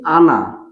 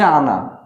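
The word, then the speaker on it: она: আনা। উচ্চারণটা হচ্ছে আনা।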